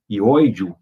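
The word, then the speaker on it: hióideo: Ióideo, né, se escreve com H, H-I-O-I-D-E-O.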